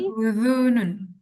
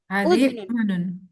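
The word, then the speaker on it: أذن: O hadhi uzunun. Hadunun bacanya uzunun.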